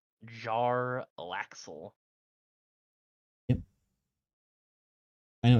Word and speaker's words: Jarlaxle: Say his name again, or spell it really for me. Let's be real here. Jarlaxle. Jarlaxle.